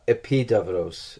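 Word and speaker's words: Epidaurus: get to others I went to EP davros epidurus it's spelled epidural in English which was the principal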